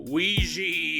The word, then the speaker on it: Ouiji: newest Patreon supporters, Video Ouiji. Woohoo! People always say I mispronounced that word, but I don't think so. It's like a Ouija board.